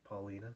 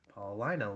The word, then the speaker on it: Paulina: a trip to Paulina I say Paulina I get in trouble for pronouncing it Paulina so we'll pronounce it correctly Paulina Lake and basically just giving